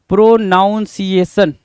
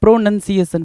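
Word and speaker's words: pronunciation: अब देखो ये क्यों देता है प्रोनाउंसिएशन वाला, क्यों देता है, क्योंकि हर बच्चा ये बोलता है प्रोनाउंसिएशन प्रोनाउंसिएशन। मैंने कितनी बार बताया प्रोनंसिएशन, प्रोनंसिएशन, नन है ना, NUN है ना कि NOUN है।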